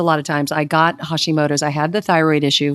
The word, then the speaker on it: Hashimoto: You cured yourself of Hashimoto's.